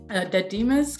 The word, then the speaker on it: Dadima: Dadima's keyring, is that how to say the name?